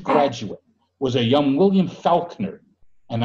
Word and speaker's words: Falkner: And one of the last of those technically wasn't a graduate, was a young William Falkner. And I'm not mispronouncing that name. He was born F-A-L-K-N-E-R.